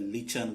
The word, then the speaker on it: lichen: But actually we should not pronounce as a lichen. We must have to pronounce as a lichen, L-I-K-E-N. But spelling is L-I-C-H-E-N.